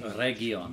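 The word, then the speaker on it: Eregion: Oregion, that's how you pronounce it.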